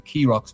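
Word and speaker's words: Keeragh: Just just off the coast of Wexford where we are, there's a small little island formation called the pronounced the Krox, but it's spelled K E R A G H.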